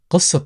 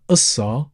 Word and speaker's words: قصة: now you know that the letter qaf, sometimes people pronounce it qaf, which is pronounced from the back of your throat, or sometimes people tend to replace it with a glottal stop, as in the first sound in the letter A. Both of them are correct. Sometimes people tend to soften it, and sometimes people go ahead and pronounce it. So whichever you go for is absolutely fine.